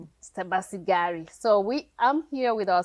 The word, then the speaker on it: Sebasibari: I made it Americanish. Oh, it's Sebasibari. Sebasibari. So I'm here with our special guest, Sebasibari, and she is just